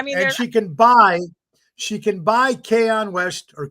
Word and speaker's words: Kanye: I mean, and she can buy Kanye West, or how you pronounce that right? Kanye?